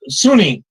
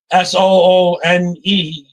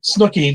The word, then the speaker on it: Suni: She's a black woman, and her name's Suni, Sooneie, and I was pronouncing it Snooky the first 2 or 3 times I said it. She said, "Can you say my name right?" And I had to look at it closer. For some reason, in my mind, it was coming out Snooky instead of Suni.